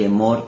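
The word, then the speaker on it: אמור: Omer, que significa cuenta, y Emor, que significa contar o decir. Son las mismas letras, pero con pronunciaciones diferentes.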